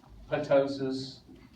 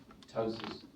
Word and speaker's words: ptosis: and hydrosis or if you'd like ptosis meiosis and hydrosis you can say the P or not if you want I don't care yeah tosis so who in here